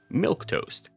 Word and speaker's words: Milquetoast: It's not spelled like that. It's spelled Milquetoast. Milk toast.